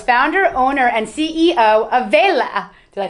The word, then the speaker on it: Vela: Raphael is founder, owner, and CEO of Vela.